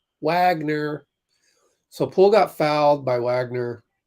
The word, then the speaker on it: Wagner: Someone is chanting Wagner. Actually, he's saying it wrong. Wagner.